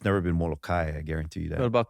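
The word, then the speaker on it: Molokaʻi: is yeah so people who argue for the Molokai versus they're not even getting that right if you're gonna omit that okay no over there then it's not Molokai which is the normal local jargon local pronunciation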